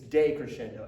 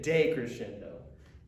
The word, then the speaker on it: decrescendo: crescendo i'll tell you it's day crescendo i want to say day crescendo day crochet awesome job